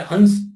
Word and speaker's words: हंस: हाँ, कई लोग गुरु का जो राज्य होता है हंस, उसको कोई हंस बोलता है, कोई हम्स बोलता है, हम लोग हम्स बोलते हैं, कोई हंस बोलता है, हम्स नाम का, है ना।